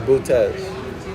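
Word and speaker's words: Boötes: It's pronounced bootez. Not boots, but bootez.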